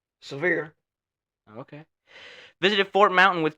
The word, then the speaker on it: Sevier: How's it pronounced? Severe.